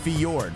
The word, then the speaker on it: fjord: is Ford okay it's for not it's it's pronounced fiord yeah F it's f for now all right